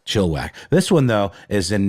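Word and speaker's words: Chilliwack: of Canada once and I pronounced it Chile back and I got yelled at so chill whack this one though is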